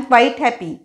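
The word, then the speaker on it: quite: दूसरा असा शब्द है क्य यू आई टी ई क्वाइट आईम क्वाइट पुष्कल प्रमाणात हैप्पी है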